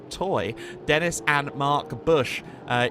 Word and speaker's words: Toj: the toy SC 304 yes it's toj but it is apparently pronounced toy Dennis and Mark Bush